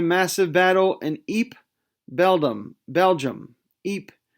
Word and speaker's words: Ypres: Ypres, Y-P-R-E-S, Ypres. I think that's how you pronounce it.